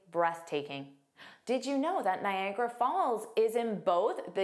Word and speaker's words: Niagara: Niagara there are three sounds. Nagra Niagara Niagara. The view of Niagara Falls is absolutely breathtaking. Did you know that Niagara Falls is in both the United States and Canada?